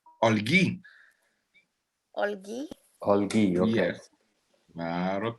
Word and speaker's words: Olguy: How do I pronounce both of your names? Olguy.